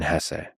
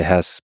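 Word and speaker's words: Hesse: and by the way please allow me this pronunciation of his last name I've heard some people say Hess but my whole life I've always said Hess so anyway it was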